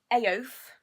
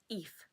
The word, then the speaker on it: Aoife: And then we've got Aoife. That's how I pronounce it. And you're meant to pronounce it like wreath without the R. Eve.